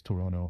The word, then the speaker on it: Toronto: So places like Toronto, they say it's Toronto.